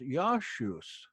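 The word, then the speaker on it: Ἰησοῦς: that name is pronounced, we can say in Greek that it was pronounced Yashus, not Jesus.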